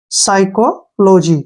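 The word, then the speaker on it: psychology: अगर पी है तो पी का साइलेंट जो है पी यहां पे साइलेंट रहेगा इसको हम नहीं पढ़ेंगे इसका उच्चारण नहीं करना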